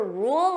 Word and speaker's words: rule: at rule notice here there are two sounds we have R so that dark L rule rule so if I pronounce this fully you hear those two sounds rule in a more